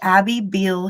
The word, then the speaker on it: Abby Beale: And we have Abby Beal here with us today. Did I pronounce that correctly?